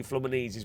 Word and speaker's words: Fluminense: It's it's pronounced Flamazi. Flanesi I'm being told it's pronounced.